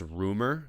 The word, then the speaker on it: RMR: His name, it's pronounced Rumor, but it's RMR.